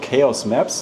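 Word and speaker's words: KAOS Maps: It's called Chaos Graph because my company behind this is called Chaos Maps. That's spelled KAOS and then Maps.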